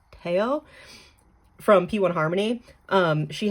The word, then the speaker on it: Theo: I hope I said that correctly because I know it's I know it's Theo, but he pronounces it Teao from P1 Harmony.